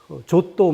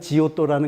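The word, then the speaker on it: Giotto: 아니면 조또 뭐 이제 그렇게 부르는 이름이거든요. 제가 이것 때문에 이태리 표현으로는 지금 얘기하는 좀 야해 보이는 그 이름이 맞습니다. 근데 우리나라에서는 그게 너무 어감이 안 좋아서 그냥 원 발음과는 전혀 다른 지오또라는 그냥 이름을 붙이거든요. 근데 그 사람도 처음으로 평범한 인간을 소재로 그림을 그려요.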